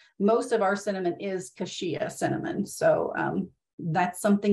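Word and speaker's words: cassia: specifically hashia cinnamon and I put the pronunciation because I'm like how do you spell that I was pronouncing it wrong so I looked it up for the phonetic pronunciation there is kashia cinnamon specifically is sold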